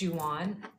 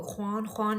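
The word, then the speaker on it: Jwan: Juan, spelled like Juan, is my first name, but it's pronounced Juan, and it means beautiful in Kurdish.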